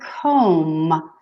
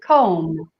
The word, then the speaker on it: comb: next one is a comb Oh another silent letter stay cold what we don't say cold but we say comb comb so the B is silent hmm hair dye towel